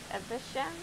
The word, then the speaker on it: Evesham: Evesham?